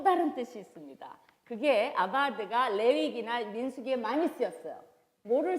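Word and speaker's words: עבד: 하시고 거기서 이제 다스린다는 단어가 그 히브리어 동사로는 아바하드라는 그 단어예요. 한번 하나 배워보실까요? 히브리어 아바하드 해보세요. 근데 이제 V 발음을 우리가 잘 안 하니까 그걸 B로 바꾼다면 아바드가 되는 거예요.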